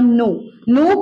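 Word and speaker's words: known: ठीक है, इसलिए लोग बोलते हैं आई नो. नो का सेकेंड फॉर्म न्यू होता है, के साइलेंट होता है, आप कैन यू नहीं करेंगे, नो न्यू, और थर्ड फॉर्म फिर के साइलेंट होगा, आप बोलेंगे नो.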